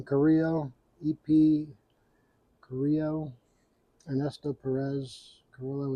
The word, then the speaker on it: Carrillo: It's the EP Carrillo or Carrillo. A lot of people say it. I think you pronounce his name Carrillo.